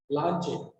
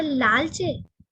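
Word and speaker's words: Leclanché: सर लालचे? लालचे नहीं, लांचे। कोई दिक्कत नहीं, आप आराम से सर।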